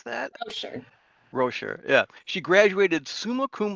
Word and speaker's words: Roscher: Is that how you pronounce that? Oh, sure. Rocher, yeah.